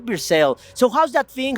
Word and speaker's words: Versailles: I don't know how to pronounce it in French. Versailles.